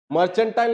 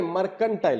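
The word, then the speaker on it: mercantile: मर्चेंटाइल नहीं, मर्केंटाइल होता है, ठीक है।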